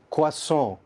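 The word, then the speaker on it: croissant: जिस तरह गुलाब जामुन में ना गुलाब होता है ना जामुन होता है, इसी तरह ये वर्ड हमारे पास क्या है करेक्टली, क्वासों।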